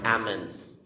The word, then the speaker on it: almonds: certificate certificate certificate next almonds almonds could be silent l or could be pronounced almonds or ammons next finance or finance